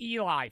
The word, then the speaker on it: Eli: Oh, it's pronounced Eli. Fuck, my bad.